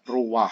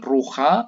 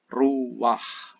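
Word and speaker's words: רוח: jutnya sebagai konsonan mayyit sedangkan yang terakhir ini bacanya ruwah sekali lagi patah disini sebagai patah vertivom dia dibaca mendahului konsonannya Jadi bukan Roha tetapi ruwah untuk lebih lanjut bisa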